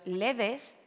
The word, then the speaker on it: ledes: Los ledes, que es como la RAE dice que tenemos que pronunciar el plural de la palabra “led”, fueron fabricados hace unos pocos años.